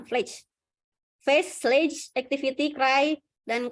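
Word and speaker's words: FLACC: Skala Fletch, namanya bacanya Fletch.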